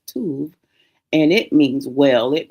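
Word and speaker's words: טוב: Uh generally, it's going to be it's going to be pronounced tov.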